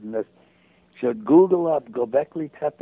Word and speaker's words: Göbekli Tepe: Actually, anybody interested in this should Google up Göbekli Tepe. It's spelled Goebekli, and the other word Tepe, Tepe.